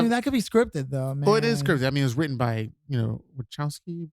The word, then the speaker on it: Wachowski: I mean, it was written by, Wachowski brothers. Is that how you pronounce it? Wachowski brothers? Yeah.